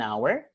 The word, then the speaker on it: hour: when it is silent or when it is pronounced I will see you in an hour then this is a happy day so with